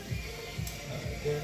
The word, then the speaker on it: Dara: Dara. I'm sure we're saying it wrong. It's Dara.